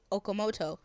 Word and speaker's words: Okamoto: translate shall we noble hiko okamoto hey i pronounced it right now okamoto yeah he's zack's subbed voice actor the same